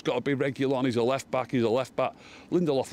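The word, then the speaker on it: Reguilón: I'm not been impressed by Reguilon, or however you pronounce it. Not been impressed with him one bit. Reguilon. Reguilon. That's how you say it.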